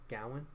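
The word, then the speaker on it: Gawain: I think it's er Gowen so you say his name Gowan the medieval knight of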